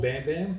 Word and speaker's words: BXM: So I call it's called Bam Bam, but it's more than just hats now. Yeah. And it's spelled BXM.